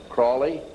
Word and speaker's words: Crowley: learned about what Aleister Crowley he likes to have his name pronounced Crowley to rhyme with holy and the Satanists today